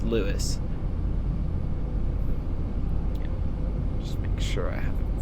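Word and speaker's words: Lewes: Calling at le just calling it Lewis next. I know it's looks like it should be pronounced L E W S. It's spelled like it should be pronounced le instead of Louiswis, but it's pronounced Lewis.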